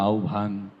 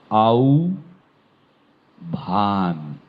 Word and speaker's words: আহ্বান: শোনার মতো শোনা হয়নি এটির উচ্চারণ কেউ বলে আহ্বান হ্যা কেউ বলে বদত্ত করে আহ্বান বলে কেউ আহবান বলে নানান ভাবে বলতে থাকে বিভিন্ন জায়গায় শুদ্ধটি হচ্ছে আউ ভান শুদ্ধটি হচ্ছে আউ ভান